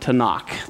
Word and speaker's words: Tanakh: is the writings so the tnk is the torah the prophets and the writing but it's pronounced tanakh the torah the naveem